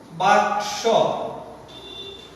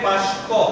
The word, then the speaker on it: বাক্স: বাক্স, বাক্সকে উচ্চারণ করে বাস্ক, বাস্ক।